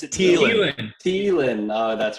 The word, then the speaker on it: Thielen: No, it's Thielen.